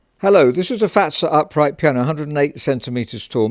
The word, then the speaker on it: Fazer: Hello, this is a Fazer upright piano, 108 centimeters tall, made in 1984 and just come into stock.